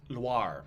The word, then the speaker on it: Loire: Not noir. Loire.